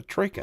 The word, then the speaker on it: troika: horses in Russia, and it's pronounced as a troika.